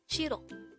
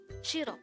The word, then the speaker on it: 싫어: Shirro. This is pronounced as a two syllable word. The first syllable is shir. The second syllable is o. Pronounce it with me. Shirro. Shirro.